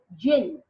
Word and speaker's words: djinn: Now the jinn, see the spelling is D-J-I-N-N, but the D is silent over here. So we spell it like jinn. So the jinn who was in charge